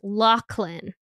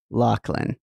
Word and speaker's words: Loughlin: I have to flag immediately that her last name is actually pronounced Lachlan Lachlan yeah so I'm gonna